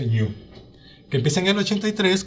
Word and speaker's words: GNU: el proyecto New o el proyecto gnu se pronuncia New que empieza en el